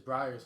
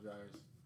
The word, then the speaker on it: Breyers: It's Breyers, huh? It's not Dryer's. It's Breyer's ice cream.